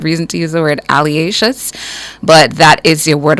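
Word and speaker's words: alliaceous: l i a c e o u s alious alious alious your word of the day is pronounced alious it's an adjective a descriptive word and it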